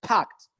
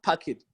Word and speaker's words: packed: sure that everything is packed packed not packet okay and make sure